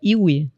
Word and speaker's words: YvY: do nome Ive que a pronúncia correta seria iwi né é i é